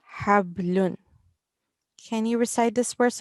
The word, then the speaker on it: حبل: And this is from our throat. Hablun.